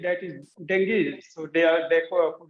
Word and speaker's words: Dengue: word we all mispronounce it we used to mispronounce it we call it Dengue yeah but the word is correct pronunciation is Dengue so while talking to people if you call